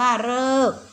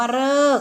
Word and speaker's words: ฤกษ์: คำ เดียว นะ คะ ออก เสียง เป็น เรอ นะ คะ มี คำ เดียว ก็ คือ คำ ว่า ฤกษ์ นะ คะ อ่าน ว่า ฤกษ์ แปล ว่า เวลา ที่ กำหนด นะ คะ อ่าน ว่า ฤกษ์ ลูก นะ หา รอ